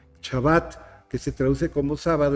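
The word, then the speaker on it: שבת: un día sagrado el Shabbat. Lo pronuncio como lo pronuncian muchos rabinos, con el hebreo clásico. Shabbat, que se traduce como sábado, en realidad significa descanso, reposo, cese.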